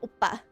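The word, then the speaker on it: 오빠: Yeah, oppa. So I don't know how it's spelled. Some people spell it O-P-P-A or O-B-B-A. The syllable could be a P sound or it could be a B sound.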